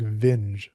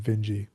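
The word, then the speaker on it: Vinge: It looks like Ving, but there was actually an interview where he was talking about his own name. So that's why I call him Vingy.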